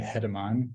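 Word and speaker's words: Germán: is German uh to pronounce my first name it's actually hedimon but you can call me German it's totally fine in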